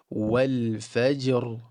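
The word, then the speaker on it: والفجر: So the ra gets the fullness at the end of the word, but the jim with its qalqala are going to be empty mouth.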